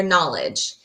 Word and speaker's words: knowledge: I don't hear the sound KN. I only hear the N for knowledge.